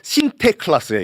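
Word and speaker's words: Sinterklaas: 니콜라스가 영어식으로 발음하면 세인 니콜라스잖아요. 근데 이거가 네덜란드식 발음이 신태 클라스 이게요.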